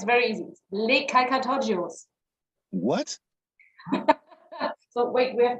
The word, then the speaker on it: Les Calcatoggios: You just pronounce it as you write it. Yeah, you just can just say it's the same as you read.